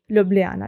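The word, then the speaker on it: Ljubljana: मैं आपके यहाँ पे मेंशन कर देती हूँ ल्यूब्लियाना, ठीक है। ये जे को यहाँ पे ये साइलेंट होता है, ओके। तो ल्यूब्लियाना यहाँ का कैपिटल है एंड यहाँ की करेंसी यूज़ होती है यहाँ पर यूरो।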